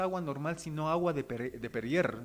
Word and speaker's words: Perrier: normal, sino agua de Perrier. Está bien pronunciado Perrier, sí.